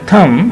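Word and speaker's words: thumb: बाद जनाब और कोई वर्ड आ रहा होगा थम हां जी होन आप अपने हाथ देखिए यहां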